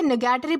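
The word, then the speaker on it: nugatory: Then इसके बाद हमारा अगला वर्ड आता है न्यूगैटरी। दोस्तों इसे निगेटरी प्रोनाउंस किया जाता है, जिसका मतलब होता है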